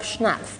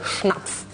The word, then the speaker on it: Schnapf: You work together, you pronounce his name Rob Schnapf, don't you? Yeah. Because in Germany we would say Schnapf, very like marching German language.